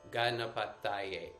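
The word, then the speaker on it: गणपतये: So ganapata, and then ye, also long syllable. Ganapataye, ganapataye.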